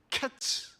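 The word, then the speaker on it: קֵץ: 여기에서 여기 본문의 말씀에 여름과일은 카이츠라는 발음을 해요. 카이츠. 그런데이 발음하는 카이츠와 그 뒤에 보면은 2절 끝에 내 백성 이스라엘의 끝이 이르렀은즉 할 때 끝에 대한 단어가 캐츠 이렇게 돼 있습니다. 히브리어의 발음에에 바로 카이츠라는 단어와 캐츠라고 하는 단어를 가만히 들어 보면요. 같이 들려져요. 즉이 광주리에 담긴 열매가 달달콤하고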